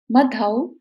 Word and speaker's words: मधौ: तीसरी लाइन, यत् कोकिलः किल मधौ, औ की इसमें साउंड आएगी, मधौ मधुरम विरौति।